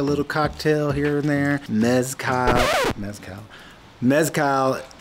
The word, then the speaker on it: mezcal: And if you do like a little cocktail here and there, mezcal, how do you say it?